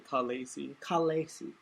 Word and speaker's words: Khaleesi: The Khaleesi of the Into Darkness Kingdom, which is that's how it's pronounced apparently. Khaleesi.